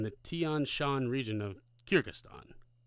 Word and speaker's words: Kyrgyzstan: It's spelled Kyrgyzstan. Kyrgyzstan.